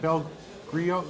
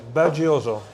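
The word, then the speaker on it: BelGioioso: And if you're at a store and you want to get decent cheese, you said Belgrio, how do you say it? It's right behind us. Belgioso.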